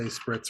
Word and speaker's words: spritz: because I couldn't say spritz How are spritz. you supposed to say it? Well, I think they want you to roll your R a little bit, and I just can't do Spritz?